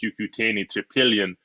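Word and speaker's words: Cucuteni-Trypillia: the earliest uh and that's pronounced cucutini to pillion uh culture that is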